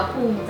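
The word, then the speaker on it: ภูมิใจ: ภูมิ ใจ ลูก ก็ มัน มี มิ ด้วย อ่าน ว่า ภูมิ ใจ ลูก อ๋อ ภูมิ ใจ ใน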